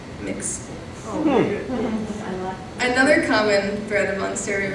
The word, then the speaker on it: Mx: It's spelled MX. Mix.